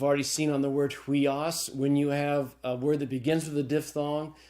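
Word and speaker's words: υἱός: Upsilon iota is pronounced hui, as in sweet. And so the Greek word is pronounced huios.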